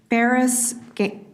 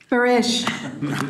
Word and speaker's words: Baris: I invite Baris. Did I get that right? Close enough. Barish.